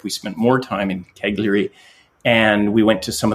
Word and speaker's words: Cagliari: I joke that it sounds to my Canadian ears like Calgary, but of course it's not. It's Cagliari. And it is the biggest city on Sardinia.